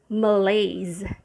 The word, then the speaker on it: malaise: the vowel sound on the first syllable is a schwa and on the main stress which is the second syllable it's lays and remember when s is surrounded by vowel sounds it should be sounded sounded as a z malaise so it means a